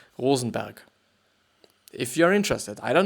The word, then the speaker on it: Rosenberg: but yeah you know but in with German pronunciation it would be Rosenberg if you're interested I